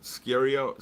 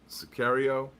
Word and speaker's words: Sicario: Scario serio.